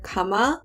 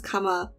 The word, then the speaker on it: 감아: When you naturally say that word, the vowel sounds in this are ahs, which is very like open, especially since the second syllable, there's no ending consonant. So it just like is very open and goes out.